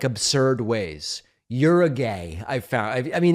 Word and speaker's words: Uruguay: Uruguay, I've found I mean, it's come on. So I'm just it's just a reminder of the way that it's pronounced Uruguay.